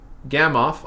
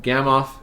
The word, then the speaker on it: Gamow: So we have Gamow on the left. I know it's spelled with a W, but I believe he's Russian, so the W is a V sound. So you have Gamow and Fred Hoyle on the right.